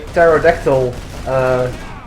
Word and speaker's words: pterodactyl: And also a question, why can't you ever hear a pterodactyl take a piss? Because the P is silent.